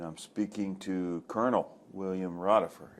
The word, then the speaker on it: Rodefer: We are in Hudson, Ohio, and I'm speaking to Colonel William Rodefer. Is that correct? Rodefer is more correct.